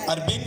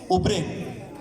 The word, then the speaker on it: urbane: Urbane college. There are many people who pronounce it Ubrain. There are some say Arbrain.